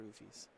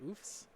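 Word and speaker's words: Ouphes: Or Oofs? I've heard it both ways. We've never really had a playable Oof, so it's tough to know what the consensus pronunciation is. I grew up around Mike Turian as a Magic player, so he was definitely an Oofy guy.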